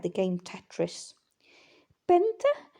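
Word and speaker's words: πέντε: like the game Tetris Benta now again the t is a bit of a D sound in modern Greek a bit softer exy um which is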